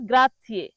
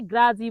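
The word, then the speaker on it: grazie: প্রথম যে শব্দটি রয়েছে সেটি হল গ্রাথিয়ে। ইতালিয়ান শব্দ গ্রাথিয়ে। যার বাংলা অর্থ ধন্যবাদ। বাংলা অর্থ কি? ধন্যবাদ। অনেক বাঙালি এই গ্রাথিয়েকে গ্রাজি বলে। কি বলে? গ্রাজি কিন্তু সঠিক উচ্চারণ হবে গ্রাথিয়ে।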